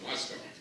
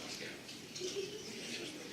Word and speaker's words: Moscow: Lash would always say, there is no cow in Moscow. It's Moscow. Whether he was right or not, I still remember that to this day. That's supposed to be pronounced Moscow, not Moscow.